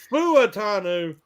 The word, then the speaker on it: Fuatanu: Yeah, well, I leave a syllable out. It's Fuatanu, but I say Fautanu, because when I try to put the foo in the beginning, I screw it up real bad.